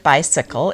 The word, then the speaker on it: bicycle: persons pronouncing the word bicycle incorrectly the accent should be on the first syllable and not the second this is according to